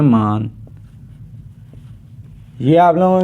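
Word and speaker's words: 만: 00 लिखा हुआ है इसे हम कहते हैं मान यह आप लोगों के सामने जो कौन से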